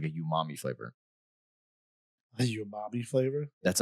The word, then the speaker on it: umami: Like no, umami. Like that's an actual thing. That's how it's pronounced.